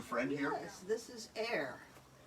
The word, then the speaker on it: Ehr: Yes, this is Air. Spell that, would you? Air is spelled E-H-R, but phonetically, obviously, it's like air that they breathe.